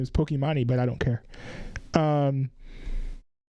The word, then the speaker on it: Pokimane: I do know enough to know that the proper way to say her name is Pokimane, but I don't care.